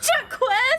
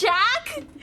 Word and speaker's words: Jacques: It's not Jacques. It's Jack. What? Why don't he just spell it J-A-C-K? Wait, what? I'm sorry. It's okay. What? Jack? That is so dumb. That is so dumb. Oh my god. It is a French spelling. Jack. It's pronounced slightly different from Jack.